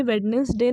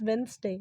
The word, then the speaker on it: Wednesday: तो आज से वेडनेसडे नहीं कहेंगे, वो गलत प्रोनाउंसिएशन है, इट्स वेंसडे, वेंसडे, वेंसडे, okay.